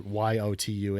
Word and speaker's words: Jotun: It's actually pronounced Jotun, but I don't want people to search for Yotun.